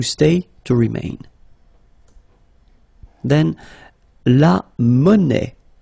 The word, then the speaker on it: monnaie: Then, la monnaie. Monnaie, okay, final not pronounced.